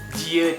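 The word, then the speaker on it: 지읒: Nah, yang itu dibacanya ci ut. Ah iya benar ci ut. Jadi CH gitu loh dibacanya guys. Nah, kalau yang ini dibacanya itu jiut. Jadi pakai J bukan pakai C.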